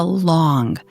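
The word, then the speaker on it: 龙: It is a long, the Chinese word pronounced simply as the English word long.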